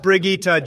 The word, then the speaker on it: Brigitte: in a and moving on unbelievable we have Bridget next it's pronounced Brigitte Jesus Christ Barack and you